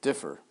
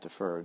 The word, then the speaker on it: differ: between decisions and actually that word should be written or pronounced differ not Toofer differ which of the following